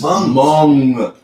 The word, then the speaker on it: Hmong: But these Hmongs moved in, like across the street, What's two a Hmong? houses down. Tummy. It's spelled with an H, but it's like Asian.